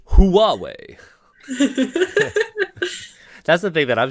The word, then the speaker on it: Huawei: it nobody that can't even people can't even pronounce huawei like i mean like it's huawei that's the thing that i'm sure like xiaomi